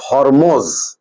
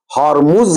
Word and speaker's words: Hormuz: है, एक straight of हॉर्मोज। हॉर्मुज कहिए, हॉर्मोज कहिए, ये प्रोनाउंसिएशन अलग होता है, HORMUZ, straight, straight of हॉर्मुज।